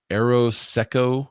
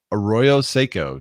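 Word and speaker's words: Arroyo Seco: this is the uh uh let's see the aeroseco is that how you say that nope our our how do you say it arroyo seiko tiny homes village in highland park california it's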